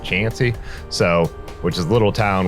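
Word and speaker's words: Chauncey: got into chansy uh it looks like it's pronounced chy but I was told it's more pronounced chansy so which is little little town where the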